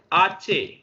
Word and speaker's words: hache: Terms of pronunciation, because it has no sound. That means anywhere if you find H, you have to give no sound to this particular letter. तो आप यहां देख सकते हैं मैंने लिखा है HACHE, लेकिन हम पढ़ना कहां से शुरू कर रहे हैं? ए से शुरू कर रहे हैं, आचे।